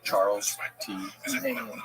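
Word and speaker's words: Chas. T. Main: Charles T. Main. Charles T. Main. Yeah, it's spelled CHAS period T period M-A-I-N. Oh, Chas T. Main. Yeah, but it's Charles.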